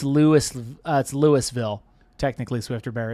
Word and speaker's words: Louisville: That I pronounced Louisville, not Louisville. Louisville. It's Louis, like Looi. No, Louis. it's apparently it's not.